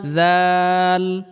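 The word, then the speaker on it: ذال: দাল দাল দাল দাল জাল জাল জাল জাল দাল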